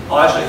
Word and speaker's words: Elisha: Basically, there's this woman who lives with her husband in this town, and this prophet Elisha, you have to pronounce it Elisha, S-H-A, Elisha, he comes to the town very often.